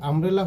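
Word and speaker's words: umbrella: যেমন এখানে যদি আমব্রেলা হতো তাহলে অ্যান বসত, কারণ এখানে ইউটি আ এর মতো উচ্চারিত হয়েছে।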